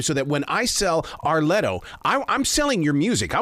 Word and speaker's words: R Letto: It's like a 3 syllable thing, like Beyonce, Arletto.